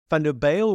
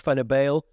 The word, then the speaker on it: Van der Bijl: He pronounced Van der Bijl the way the English do, with a crisp A sound rather than the flatter U sound.